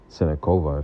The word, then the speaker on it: Siniakova: And she did have the win against Siniakova, or, you know, we pronounce it Sinakova if you're from the Western part of the world.